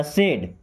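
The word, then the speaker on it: said: देखिए सैड कैसे लिखते हैं? एस ए डी इसे पढ़ते हैं सैड। सैड का मतलब दुखी होता है ना। जहां पे ए आई आता है तो ए की मात्रा लगता है।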